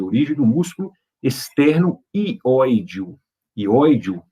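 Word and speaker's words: hióideo: Ióideo, né, se escreve com H, H-I-O-I-D-E-O.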